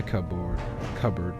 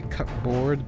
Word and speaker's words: cupboard: A supply cupboard to hold all of your laundry supplies. I was going to say cupboard, but I know it's pronounced cupboard.